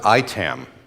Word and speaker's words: IAITAM: if you're wondering how we pronounce this we pronounce it itam because we want to confuse everyone between itam